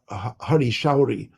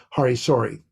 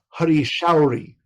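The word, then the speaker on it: Hari Sauri: with Prabhupada, like of a Shruti Kirti or Hari Shauri. By the way, that is the proper pronunciation of his name. There's no such thing as Hari Sori. So I'm sorry about that. But it's Hari Shauri.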